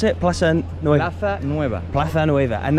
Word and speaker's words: Plaza Nueva: How do you pronounce it? Plaza Nueva.